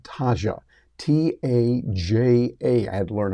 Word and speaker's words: Taja: you can use with a tool called Taja t Aja I had to learn how to pronounce that Taja doai and it's going to